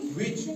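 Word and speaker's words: witch: अगर सी एच से पहले टी आता है लेटर सी एंड एच से पहले अगर टी आए तो टी यहां साइलेंट रहता है। जैसे डब्ल्यू आई टी सी एच सी एच से पहले टी आया यस सर इसको विच नहीं पढ़ेंगे बल्कि विच पढ़ेंगे। क्या पढ़ेंगे? विच यहां टी साइलेंट रहेगा।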